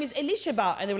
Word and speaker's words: Elisheba: So my full name is Elisheba. That's my full name, I know. Okay, I want to pronounce it.